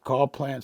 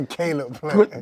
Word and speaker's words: Caleb Plant: And again, ain't no disrespect, but Carl Plant smacked the shit out of Charlo. Oh, you talking about Caleb? I said it right. That was bad. What Caleb Plant? Caleb Plant? Yeah, Caleb Plant.